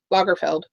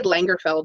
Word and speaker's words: Lagerfeld: supposed to be Karl Lagerfeld. Okay. I always say Lagerfeld, and there's not an N in there. Lagerfeld. And if I ever meet him, I'll make sure to say it correctly.